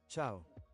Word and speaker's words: ciao: Ciao. Ciao, man. Oh my gosh. I have been mispronouncing it basically. Ciao, not see ya.